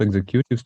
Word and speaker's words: executives: They provide correction and help executives to refine their action plan. Окей. В виконавчих директорах куди наголос, Паш? На другий склад, да? Executives.